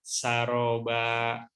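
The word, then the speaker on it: سرابا: Ayat 20-nya wasuyiratil jibalu pakanat saroba. Ayat 24-nya la yazukuna fiha bardaw wala syaroba. Hampir sama apa ya? Saroba dengan syaroba. Nah, ini tentu pelafalannya harus berbeda, ya.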